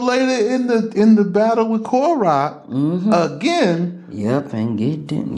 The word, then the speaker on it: Korah: So this Dathan and Abiram, you know, good friends of Karun, which is how they say it in Arabic, but we say Korah.